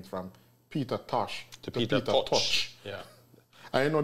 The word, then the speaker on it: Peter Tosh: changed his name from peter tosh yeah i know there's a lot of jamaicans who say peter touch just from a mispronunciation a big part of